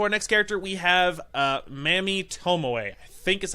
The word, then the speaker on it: Mami: So moving on to our next character, we have Mami Tomoe. I think is how you pronounce her first name. I think it's Mami. It's M-A-M-I. I think it's Mami is how they pronounced it.